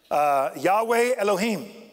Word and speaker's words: Yahweh Elohim: God and the Old Testament that would be pronounced Yahweh Elohim who is who was and who is to